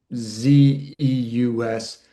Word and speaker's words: Zeus: god Zeus, Z EUS, that EU is actually a diphthong that makes this kind of oo or you sound like Zeus. So, it's really probably Prometheus, not two syllables, but altogether, same as Odysseus. But we often say Odysseus, Prometheus. We don't say Ze-us for Zeus, though. So, we we get that right.